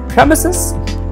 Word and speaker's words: premises: will never be from Isis from Isis is an incorrect pronunciation like school premises school premises I was in the school premises till four o'clock all right so this is how you're going to pronounce this word premises I'll get back to